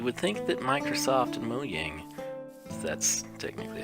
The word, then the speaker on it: Mojang: You would think that Microsoft and Mojang, that's technically how they pronounce it, I prefer Mojang, but you would think they would fix this because it makes the game unfreaking playable.